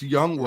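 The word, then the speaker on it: Younghoe: So number 10, I'm going with Young Ho Koo from Atlanta. Super accurate kicker. I love how we never pronounce his name right. It's Young Wei. Right. It is Young Wei for sure.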